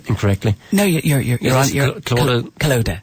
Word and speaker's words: Calodagh: Have I pronounced your first name incorrectly? No, you're on. Calodagh. Calodagh.